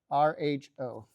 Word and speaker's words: Rho: That right there is the Greek letter row. It if I drew it really carefully, it would look a little bit like that. Okay, Rho, right? Is how you pronounce that, right?